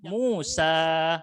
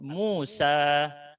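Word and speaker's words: موسى: Aslinya alif, makanya dibacanya panjang, Musa. Harus dibaca panjang, mad thabi'i. Ya, dengan dua harakat, Musa.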